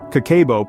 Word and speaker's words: Kakeibo: Kakeibo, pronounced Kakeibo, is a traditional Japanese method of managing and saving money.